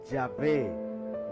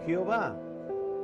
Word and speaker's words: Yahvé: En español se suele pronunciar Yahvé, nunca Jehová.